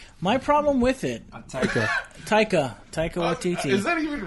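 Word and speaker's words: Taika: director what Titi my problem with it ta taica ta is that even right is that no no that's what it is pronounced my problem because that has something to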